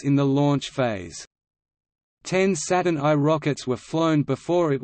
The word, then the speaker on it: Saturn I: The Saturn I, pronounced Saturn I, was the United States'